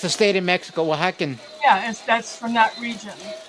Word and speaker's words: Oaxaca: X A C A N, Oaxacan. Oaxacan, Oaxaca, Oaxaca? like Oaxaca. Oaxaca, like it's a state in Mexico, Oaxacan.